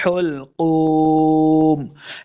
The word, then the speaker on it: حلقوم: کے سامنے لانا ہے۔ حلقوم، ح کو تلفظ کے ساتھ پڑھنا ہے۔ حلقوم، دو نقطوں والا قاف ہمیشہ موٹا پڑا جائے گا کیونکہ یہ حروف مستعلیہ سے ہے۔ قوف پیش واو، قو،